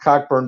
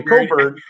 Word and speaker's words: Cockburn: But the two big guys, Dosonmu and well, even though it's not pronounced Cockburn, but spelled that way, Coburn, combined for 35 points and 16 boards.